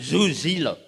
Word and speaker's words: Soesilo: Nama saya kalau di Jerman panggilnya Zuzilo.